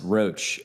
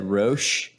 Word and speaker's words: Roach: sure I heard Ralph mispronounce roach I'm pretty sure he said Roche yeah like a little French yeah did you hear